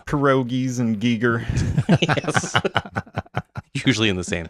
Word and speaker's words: Giger: but I don't care what's the correct pronunciation of uh Giger Gyer Giger Giger okay but I for some reason I've always leaned towards saying Gyer I feel like everyone at least in the western Pennsylvania does krois and Giger yes